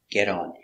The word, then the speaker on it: get on: So remember, get on, pronunciation, get on with a D. Get on.